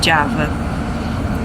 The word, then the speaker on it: Java: Indonésia e e aqui a pronúncia Indonésia é d então por isso que a gente não fala Java é Java e nem jakarta é jakarta